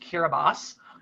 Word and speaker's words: Kiribati: It's the capital of Kiribati, properly pronounced Kiribati.